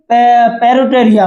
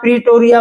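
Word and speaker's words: Pretoria: Building के द्वारा, इन पेरिटोरिया में, ठीक है, इसे बहुत सी बुक्स में आप प्रीटोरिया बोलते हैं, किसी में पेरिटोरिया दिया है, तो आप जो भी प्रोनाउंसिएशन करेंगे दोनों बोथ आर राइट, ठीक है।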